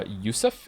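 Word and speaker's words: יוסף: Joseph is pronounced uh Yousef in the orig in its original Hebrew form therefore I will call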